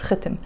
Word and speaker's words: khitim: You see, I'm pronouncing it khitim. You can pronounce it khitim. Khitim. No, actually, it's khitim. So khitim with a khe, and there's a kasra under the khe.